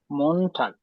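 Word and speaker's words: Montag: অপু এখানে ঠা না বলে ঠ না বলে ট বলা হচ্ছে মানে এরকম ট অথবা ত মন ঠাক মন একটু সফটলি মানে তুমি যেটা বললা সেটা কোন ভাবে ভুল না তবে নরমালি ওরকম ট অথবা ঠ করে জার্মানে মানে জার্মানে সাধারণত বলে না একটু সফট করে বলার চেষ্টা করবা মন ঠাক আবার বলো মন ঠাক এক্সাক্টলি মন ঠাক একটু সফট করে এখানে টি এর উচ্চারণটা এখানে করবা তাইলে জার্মানরা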